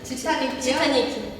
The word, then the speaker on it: Titanic: Titanic? Ti read like "tí" and "nic" read like "niqui" .